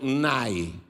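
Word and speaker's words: ναί: o sim na nossa língua no original grego Se escreveu nai significa Sim esse texto que eu estou lendo em português para você na verdade ele é traduzido do grego e o Sim lá em grego é nai porém a palavra amém não é grega ela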